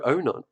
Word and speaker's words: Onan: pronounce that properly, because I keep wanting to say Dr. Unan. No, Onan. Unan. So it's An. Onan. That's not what. Oh, you can call me Onan if you want to, but it's Onan.